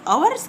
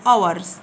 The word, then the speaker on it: hours: g h t hours هنا حرف ال h في كلمة hours كلمة ساعات يعني حرف silent يكتب ولا ينطق hours hours h o u